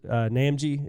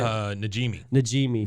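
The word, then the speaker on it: Najimy: I don't know how to pronounce her last name, but the lady that does Peggy's Namji, is that how you say it? Najimi.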